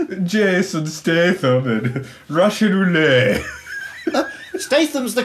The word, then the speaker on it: Statham: Statham's the correct pronunciation.